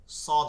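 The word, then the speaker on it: صاد: প্রথমত সদ হবে, কি হবে, সদ। সদটা দেখেন, এটা মোটা উচ্চারণটা কি শোনা যাচ্ছে, স, স, চ, স, মোটা উচ্চারণ শোনাচ্ছে, সেহেতু এইটা দাঁতের ভিতর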